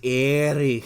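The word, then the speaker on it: Éire: a funny connotation because there's a place in Ireland called Erie, but that's not how it's pronounced. But it's pronounced Erie. Erie.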